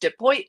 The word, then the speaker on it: DePoit: My last name is spelled pretty trickily, but it is pronounced DePoit like Detroit.